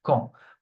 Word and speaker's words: quand: And you never pronounce the U, please. I don't want to hear the quesque or qui or quan. I don't want to hear this, okay? It will be a mistake. Be careful. It's quand.